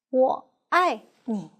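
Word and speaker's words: 我爱你: And I love you can be recorded with three Chinese characters, pronounced as 我爱你.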